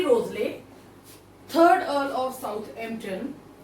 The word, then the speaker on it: Wriothesley: Henry रोजले को इनका जो है W से स्टार्ट होता है, लेकिन प्रोनाउंसिएशन होता है इसका Henry रोजले, third earl of Southampton.